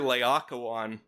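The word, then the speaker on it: Laocoön: this is a guy the soothsayer layakawan which is spelled l-a-o-c-o-o-n but the first person who addresses him in this movie calls him Lao it's like they read it and they they had never consulted with the classics expert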